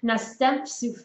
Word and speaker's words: następstw: So over in the Polish language, you have an E with a tail, which means it's like an N sound. Następstw, you just say it that way. You don't say it like a regular E.